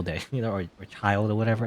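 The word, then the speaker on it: Childe: you know or a child or whatever i keep saying his name wrong i'm so used to saying chill day but there you go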